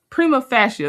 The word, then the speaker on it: prima facie: Prima fascia. Prima facie. That sounds more right.